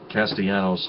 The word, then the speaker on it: Castellanos: castellanos is an american it should be pronounced castellanos not castellanos it that would be more latino or spanish and and that's and that's not that's not it ethnicity people it's castellanos